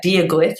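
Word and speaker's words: Dia duit: So yeah, dia gut is how you say hello, and gurev mahagut is how you say thank you.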